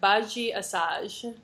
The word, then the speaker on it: Badi Assad: music festival I'm very very happy to have baji assage and I did my homework and I think I'm pronouncing your name right is that correct baji assage perfect thank you I I practiced so that